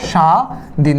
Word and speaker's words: স্বাধীন: এই যে দন্তসটা আছে এই দন্তসর উচ্চারণ কি চো এবং ছ এর মত হচ্ছে তোমরা বলবে যে না এটা চংবা ছ এর মত হচ্ছে না যদি না হয় তাহলে এই দন্তসটা কি হয়ে যাবে তালবস হয়ে যাবে সো আমরা লিখবো সাদিন দীর্ঘকার কি হয়ে যায়